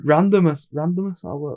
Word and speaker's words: randomness: But it's like the randomness. It's a word. It's like, why? I think the word you're looking for is randomness. Yeah, that's a word. Yeah, I feel like you were adding an extra syllable.